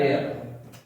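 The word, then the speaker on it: heir: an article लगाना पड़ेगा एच ओ यू आर are honest Narel इसको माइंड कर लेना ठीक है नरेल और एच ई आई आर एयर ठीक है इनमें एच साइलेंट होता है बाकी सारे वर्ड्स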